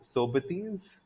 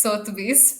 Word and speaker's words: Sotheby's: Uh, have you heard of Sobetes? I Yeah, don't so know if I'm pronouncing it right. Sotheby's. It's Sotheby's, but yeah.